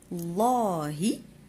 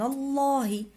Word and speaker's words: الله: إذن سبحان الله، الله الألف الأولى ما نطقوهاش، اللام الأولى ما نطقوهاش، اللام الثانية كنديرو لها الشدة وفتحة، والهاء نديرو كسرة لأن قلنا الله الله.